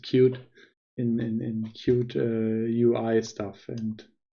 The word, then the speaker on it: Qt: I'm not an expert in Qt, like it's Qt, but I think you pronounce it cute in Qt UI stuff.